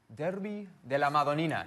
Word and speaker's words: Derby della Madonnina: Of course, Sunday, the Derby della Madonnina.